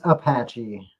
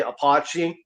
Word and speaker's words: Apache: Yeah, it's it's Apache. Apache. Yeah, Apache. I know it's the way it's spelled because the way it's spelled I I used to joke around and say apachi just the mess with my mom she would get so heated about it I would say apachi she's like that's not